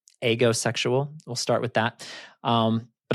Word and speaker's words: aegosexual: And so it's pronounced lots of different ways. I'm going to start out pronouncing it agosexual. Agosexual.